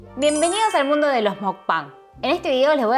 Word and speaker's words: mukbang: Bueno, antes que nada quiero aclarar que mukbang, que se escribe mukbang pero la pronunciación original es mukbang, básicamente es comer una